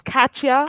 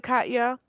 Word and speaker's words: Katya: bar oh really yes could you pronounce your name again Katya because I was saying it wrong the whole time like I'll cut ya ketchup okay yeah there we